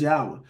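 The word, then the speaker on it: Yahweh: tet gron all right we pronounce as yahwah all right so the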